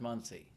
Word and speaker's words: Muncie: Pronounced Muncie.